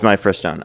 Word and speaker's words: Mifepristone: It's Mifepristone. That's actually the correct way to say it.